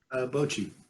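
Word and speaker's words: Bocchi: Is it Bokchi or Bokchi the Rock? Is that how you pronounce it? Bochi. Bochi.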